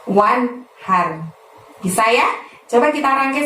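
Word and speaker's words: وانحر: Wan-nya itu bunyi N-nya harus jelas ya teman-teman, karena nun mati bertemu hak. Haknya seperti biasa kita lafadzkan dari tenggorokan bagian tengah, jadi terdengar lebih lembut, lebih halus. Wanhar, bukan wanher, tapi wanhar.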